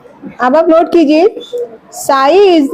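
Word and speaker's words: ψ: अब आप नोट कीजिए सई इज द ये जो सिंबल है बेटा ऐसे त्रिशूल टाइप का इसको बोला जाता है स स्पेलिंग है पी एस Y again P साई लें तो स ठीक है ये क्या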